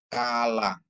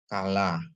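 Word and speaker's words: כלה: ya bright ya kalah ya Kaf ada dages ya kalau kap tanpa dages dia sama dengan kah Ya k ha sama dengan dia head ini bacaannya ya KH tapi kalau kap dikasih dages dia jadi k ya tanpa dages dia kaha ya Kaf ditambah fat lamet ditambah kamat tambah he jadi bacanya kalah yang artinya mempelai perempuan ya terus head ya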